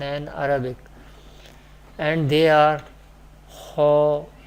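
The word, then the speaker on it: خ: Kha will be pronounced from the top part of the throat. Kha letter, first Musta'liyah letter, is pronounced from the top part of the throat. How we decide, how we pronounce Kha? Kha, Kha, Kha.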